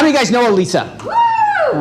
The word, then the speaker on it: Alissa: So I've called her Alissa because I'm thinking, you know what? I'm going to pronounce it the way it's written.